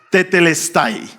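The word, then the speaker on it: τετέλεσται: Esa palabra se pronuncia tetelestay, que es el nombre del mensaje de hoy. Tetelestai se traduce al español por todo está cumplido.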